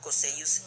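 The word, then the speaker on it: Cocceius: En latín se pronuncia como Marco Cosseius Nerva.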